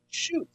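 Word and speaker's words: Schuetz: It's a it it's pronounced phonetically chute. Shoot.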